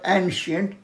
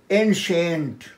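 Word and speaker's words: ancient: তারপর দেখো এনশেন্ট, এনশেন্ট বেশিরভাগ লোকই বলে অ্যানশেন্ট, know that is নট অ্যানশেন্ট, এনশেন্ট।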